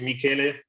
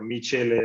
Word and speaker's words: Michele: same same for me my name is michele i'm italian and everybody calls me whatever michelle mitchell we shall everything so i'm happy that